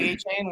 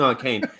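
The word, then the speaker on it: Achane: You like A-Chain? What's up, Peter? Yeah, I like A-Chain. Yes. Now I learned to say his name, so he's not gonna, hate me. I kept reading Arcane.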